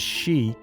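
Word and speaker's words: 四: the reason being that its character is sometimes pronounced as she which is the word for death no wonder japanese establishments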